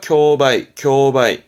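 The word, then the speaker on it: 競売: 발음은 교기. 경합하네요. 교고. 경매자죠. 경매합니다. 교바이.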